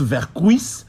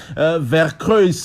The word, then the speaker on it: Vercruysse: mais elle est vraie la vraie prononciation au belge et hollandaise c'est vers kruis est donc voilà donc